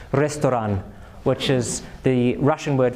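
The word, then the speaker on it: ресторан: So if we pronounce it according to Latin pronunciation we get ‘pectopah’ right? But if we pronounce it according to Cyrillic pronunciation it's ‘restoran’ which is the Russian word for restaurant.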